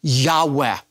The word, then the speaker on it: Yahweh: as the tetragrammaton and most Semitic scholars believe it's pronounced a breathy Yahweh continual present action the